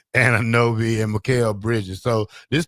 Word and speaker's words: Anunoby: Anunoby, and Mikal Bridges.